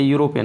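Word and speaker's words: European: अब यूरोपियन में देखिए स्वर है ना, आप सोचेंगे स्वर के पहले आयन लगता है, लेकिन गलत है। यू, इसका उच्चारण लिखेंगे यू, इसलिए ए इसके पहले भी सही है।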